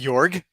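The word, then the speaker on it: Jörg: is incredible yeah the jorg George jorg you're the German how do you how do you say it h yorg yorg okay yeah sounds right incredible and what what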